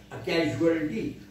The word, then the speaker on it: casualty: इसको भी वही पढ़ेंगे, कैजुअल, जू जू जू नहीं, कैजू कैजुअल, कैजुअलिटी.